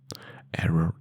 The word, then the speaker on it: error: Error in Spanish is error. You have a little bit more as in over the two Rs.